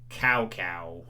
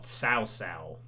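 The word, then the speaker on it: Cao Cao: chinese pronunciation i mean i used to call like in dynasty warriors uh cow cow you know the leader of way but actually it's pronounced more sausal you know with and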